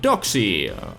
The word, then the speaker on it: Doxy: So I went back home, slapped the dog with a name tag, and here we have Doxy. It's kinda cringe, but I named it because it rhymes with sexy, you know.